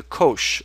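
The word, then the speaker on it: cosh: So mathematicians when they have to refer to this function will call it the kosh of x. And kosh somehow rhymes with something like posh.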